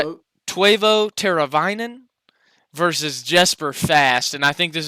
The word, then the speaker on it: Jesper: I think it's actually pronounced Jesper, according to our friend Will.